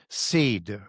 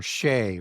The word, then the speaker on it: Sidhe: So shed, as we understand that coming through other languages, is seed or shay or Sidhe, Sidhe is how it's spelled.